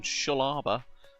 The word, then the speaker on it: Shellharbour: We're in Shalaba or Shell Harour as I would rather pronounce it.